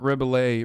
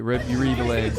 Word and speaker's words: Rebillet: Is it Ray-Billet or Rebill It? I don't know how you say his name, but he's dope. That's not Fantano. That's Mark Rebillet. Rebillet.